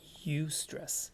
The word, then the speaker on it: eustress: a thing as good stress and it is pronounced eustress e-u-s-t-r-e-s-s right so the idea here is that